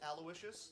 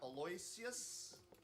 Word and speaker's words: Aloysius: lardner and aloysius minch it is pronounced aloysius not aloysius thanks for the good